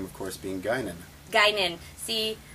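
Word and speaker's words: Guinan: name of course being gynan gynan see I didn't know cuz I wasn't sure how the pronunciation of it it's it's ginan that's what I was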